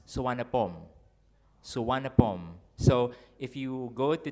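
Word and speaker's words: Suvarnabhumi: studying Thai now uh there is no V in the language in the Thai language Thai speakers replace V with W that's why the name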